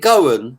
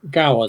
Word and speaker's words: Gowan: so is is it is it Goen your name is that how you pronounce it um Gowan Gowan Gowan thank you for asking